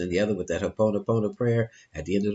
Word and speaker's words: Ho'oponopono: When you could always do a collective Ho'oponopono prayer, Hawaiian prayer, Ho'oponopono. Don't ask me to spell that, but it's spelled just like it sounds.